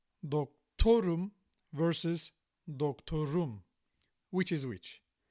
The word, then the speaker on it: doktorum: dokTOrum versus dokTOrum. Which is which? This one, the first one, is ben dokTOrum. I'm a doctor. Because here the suffix is im, and that suffix passes the stress.